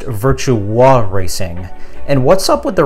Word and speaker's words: Virtua Racing: And I told you 100 times, it's pronounced virtua racing.